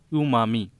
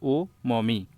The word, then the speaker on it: umami: द new test the new test to learn is umami, pronounced as o mommy.